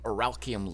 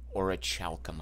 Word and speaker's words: orichalcum: And while we're here, we'll buy some Oralchium loot. It's actually pronounced Orichalcum, I believe, but I can't quite wrap my head around that.